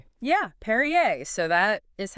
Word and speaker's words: Peryea: And just a quick note for you listening, uh, the records spell it P E R Ya, but the family actually pronounced it Perier. Oh, that's interesting. Perier. Yeah, Perriier.